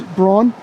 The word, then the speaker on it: Braun: I could document it was here, it's Braun? It's pronounced Brown. Brown, that's why I always B-R-A-U-N.